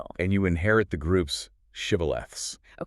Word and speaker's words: shibboleth: They made everyone trying to cross say the word shibboleth. The enemy tribe's dialect couldn't pronounce the sh sound. They said sibboleth instead.